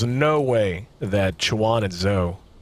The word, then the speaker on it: Zhou: I mean, there's no way that Schwan and Zoe, or Zhou, I guess is the more correct way to pronounce it.